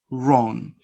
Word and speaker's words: wrong: The second note says, W is not pronounced in some words. Answer, no answer, answer, to, who, whole, right, wrong. So you don't pronounce, remember, you don't pronounce the sound W.